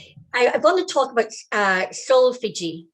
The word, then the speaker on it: solfeggio: So just before we get into that, I want to talk about solfeggio. Solfeggio, am I pronouncing it? Solfeggio.